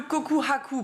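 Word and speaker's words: 告白: légitime sérieuse et cetera le koku Haku prononcé avec un H c'est donc une déclaration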